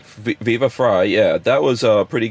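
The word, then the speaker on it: Viva Frei: viva fry fever frog fry yeah fry like french fry viva fry yeah that was a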